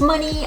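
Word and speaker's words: Mohney: I think it's pronounced money, I don't know.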